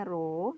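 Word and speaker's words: ρ: nah rumusnya PH = ruh ini bacanya roh Hai dikali J kali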